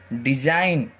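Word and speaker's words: design: जाएगा साइलेंट हो जाएगा जैसे इसको क्या बोलेंगे रैन इसको साइन इसको डिजाइन इसको रिजाइन ठीक है जी हमेशा क्या होगा यहां पर साइलेंट होगा ओके खा ए हार्ट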